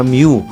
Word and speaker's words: Mu: OG kapatiran para sa bayan at of course kasama pa rin natin ang president ng P Gam Mew. Kanina sabi ko mu. Ngayon Mew pala yon ang pronunciation.